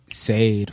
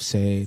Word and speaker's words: Sade: For me, Sade for sure. I love Sade. Sade. Sade.